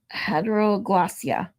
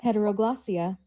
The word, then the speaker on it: heteroglossia: So, this word is I got to heteroglossia. So, here oops, wrong one. So, this is how you say it. Come on. Now, my computer is being a Heteroglossia.